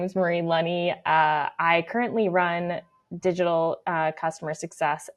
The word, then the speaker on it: Lunney: Uh, because my name's Marie Lenny. Lenny. Sorry. Lenny like money is what I say.